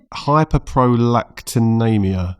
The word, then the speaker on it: hyperprolactinemia: Now I'm going to try my best to pronounce this. Hyperprolactinemia.